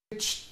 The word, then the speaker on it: bleached: اكيد في الافعال الثلاثه لما بحط دي او اي دي بنطقها برناونس اس ت فتبقى عندي mixed mixed bleached bleached ما اسمعش بقى